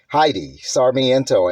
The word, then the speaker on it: Heidi Sarmiento: Masters sifu Heidi sarmiento hello master sifu hi Heidi sarmiento am I pronouncing that correctly yes that is correct okay